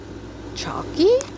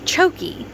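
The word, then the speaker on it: choky: Chalky word look up. Well, apparently it helps if I pronounce it correctly. It made him quite chokey.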